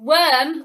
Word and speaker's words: worm: should be spelt or and then you've got worm which perhaps more logically should be spelt er